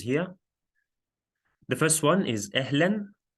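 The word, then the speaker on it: أهلاً: the first one is ehlen that's how we pronounce it means hi okay or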